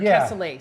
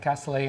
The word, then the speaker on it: cassoulet: Or cassoulet, sorry, I'm saying it wrong. Yeah, cassoulet, and it's just, I mean, depending on what you're cooking, it can be cooked for a very long time.